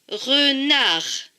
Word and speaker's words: renard: Le D ne se prononce pas puisqu'il est écrit en bleu. Donc ce dernier mot se lit re, na, r. Renard.